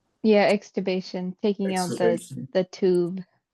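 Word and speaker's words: extubation: But but exubation. Yeah, exubation.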